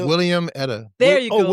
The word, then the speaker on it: Wilhelmina: Not watermelon. The way you say that. William Etta. There you go. Oh, William Etta.